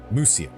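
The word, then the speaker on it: Mysia: certain route and attack Muisia. Uh, Musia, right? They pronounce it with a U.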